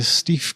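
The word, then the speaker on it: Steiff: the doll however was reportedly manufactured by the steve company i think i'm pronouncing that right s-t-e-i-f-f of germany purchased by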